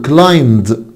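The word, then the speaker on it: climbed: كلايم خلي بالكوا حبايبي ان البي سايلنت، كلايم يعني يتسلق، اقول كلايمد كلايمد. يبقى الاي مش هتنطق.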